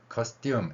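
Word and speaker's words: costume: 영어에서 S 뒤에 T가 있을 때 소리가 우리말 쌍디귿으로 납니다. 그래서 커스튬 이렇게 발음이 됩니다. 물론 커스튬이라고 한다 그래서 틀린 건 아니지만 자, 전통 의상을 의미하는 커스튬에 플레이라는 단어가 들어갑니다.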